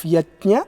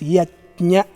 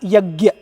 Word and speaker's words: yajna: The pronunciation of yajna in Sanskritam is yajna. Yaj dhatu. So it is yajna. A few people, they think it has to be pronounced yagya. That is because of their mother tongue influence.